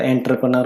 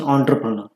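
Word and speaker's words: entrepreneur: बोलायला पण काय काय चुकीचा उच्चार करता एंटरपनर म्हणतात काही पण त्याच व्ट इस द रियल प्रोनन्सशन ऑ्टपनर सर ऑ्टपनर ्यानी मिनिंग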